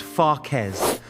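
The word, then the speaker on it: φακές: In this video, I am giving you the exact recipe called fakes in Greece, pronounced fakes, a word that simply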